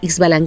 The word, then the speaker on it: Ixbalanqué: el otro se llama ish ballan que no nos olvidemos que hay muchas setas en el idioma maya y muchas que se pronuncian como jota pero se escribe así ixbalanqué y su balance y